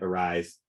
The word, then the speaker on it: ARISE: They pronounce it ARISE, even though it looks like REAs to me, but they have a